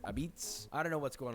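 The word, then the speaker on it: apizza: Number 29, Connecticut, which they call this New Haven pizza, but they also pronounce it abitz.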